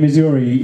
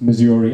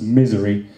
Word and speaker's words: Missouri: French uh lady um pronounced Missouri as misery um which I thought